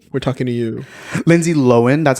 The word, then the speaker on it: Lohan: Lindsay Lohen, that's how you pronounce it, by the way. Aware. Loen. Yeah. Not Lohan. Nor. Lohan. Get it right. Loen.